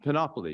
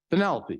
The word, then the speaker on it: Penelope: a penny Penny um panopoly is that the right pronunciation panoply Penelope that's it yeah Penelope so this is Penelope she's lame uh she's what 25 to 30.